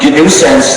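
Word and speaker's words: gNewSense: gance spelled g nuisance so uh new sense the distribution sounds the same way but it's spelled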